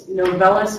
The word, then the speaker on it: Novellus: In case not, it's Novellus, so spelled like novel, like a good book to read, and then IS at the end, Novellus.